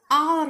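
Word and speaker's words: hour: यहाँ पर H silent है बट उसका प्रोनाउंसिएशन आवर होता है।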